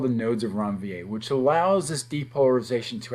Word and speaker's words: Ranvier: And these are called the nodes of Ranvier. You have to say it like that. It's not Ranvier, it's nodes of Ranvier.